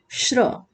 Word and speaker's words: श्र: श्र। ठीक है, इसमें कौन कौन से व्यंजन वर्ड मिले हुए हैं? तालव्य श हलन, यानी आधा तालव्य श और ये हुआ आधा र, और अ मिला दिए तो हो गया ये श्र पूरा।